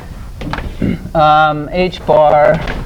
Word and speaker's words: h-bar: of the okay and we have some constants h-bar is we this is pronounced H bar and it's one point zero